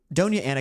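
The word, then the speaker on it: Doña Ana: Uh this is uh it's pronounced Donia Donia Anna County in New Mexico.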